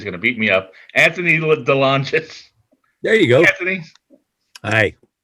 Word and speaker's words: Anthony DeLongis: And I keep mispronouncing his name, and he's a tough guy, and he's going to beat me up. Anthony DeLongis.